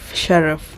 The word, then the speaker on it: Schraff: Schraff. I think that is the pronunciation of that name.